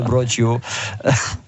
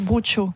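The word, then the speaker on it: brocciu: Vous Michel, prenez parce que 300 vous, grammes de broccio. Alors, je sais pas prononcer, moi. Ah oui, attends. Bruccio. Bruccio. Bruccio, On voilà. le dit bien ou pas? On dit bruccio.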